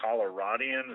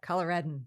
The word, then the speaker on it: Coloradan: I've been talking with a fellow Coloradian. Is that how do you say it? Yes, Coloradan.